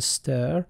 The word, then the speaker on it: str: and a string slice the latter is usually pronounced as a stir and is written with